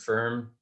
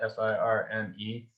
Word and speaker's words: Firme: So the organization is called Firm Foundation, and it's spelled the Creole word "firm" means strong, and it's spelled FIRME. One might pronounce it firme here, but it's pronounced firm.